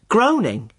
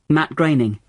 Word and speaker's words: Groening: I always thought it was pronounced groaning. Well, I did too, for a long time. But no, it isn't. It rhymes with raining. Matt Groening.